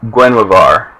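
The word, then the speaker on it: Guinevere: My brother says Gwenavar, which is there's a little WV action in there somewhere. So that's interesting. Guenavar.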